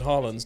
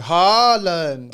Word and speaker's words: Haaland: You've got to go Haaland. Oh, Haaland. No. It's just 2 A's. So you go Haaland. Someone tell us in the comments how to say his name, please. Erling Haaland. Although I think it's like Haaland. Haaland is how you say it in Viking.